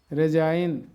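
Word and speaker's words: resign: মানে ইংলিশ ওয়ার্ডের শেষে আই এনজি থাকলে উচ্চারণ হবে আইন ফরেন align রেজাইন campaign কন্ডাইন ফেইন choline এবার আমরা অর্থগুলো শিখবো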